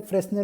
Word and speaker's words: Fresnel: This is pronounced as Fresnel lens. S is considered as silent.